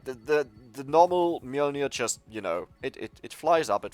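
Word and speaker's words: Mjölnir: And there it is, Mjolnir. By the way, I googled for the original pronunciation, and this is the pronunciation because it's Nordic.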